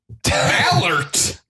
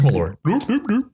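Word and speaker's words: Malört: Mallert. Malort. How is that O supposed to be pronounced? What do you mean? Malort. Malort? Like Swedish chef? No, it's just Malort.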